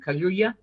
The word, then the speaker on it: Kaluuya: By the way, Daniel Kaluuya, I think that's how you say his name. Kaluuya.